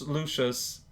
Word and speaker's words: Luxus: Luxus, pronounced Lucius.